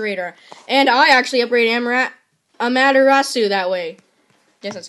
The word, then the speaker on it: Amaterasu: And I actually upgrade Amaterasu that way.